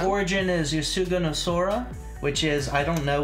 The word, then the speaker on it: Sora: Yeah, but it sounded like you said Sona. Sora. Kasugano. Sora and Kasugano. Its origin is Yosuga no Sora.